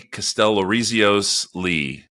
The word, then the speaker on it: Kastellorizios-Lee: Kastellorizios-Lee.